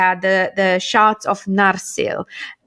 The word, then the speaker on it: Narsil: the the shots of narsil narcil i'm straight on the first syllable okay yay um and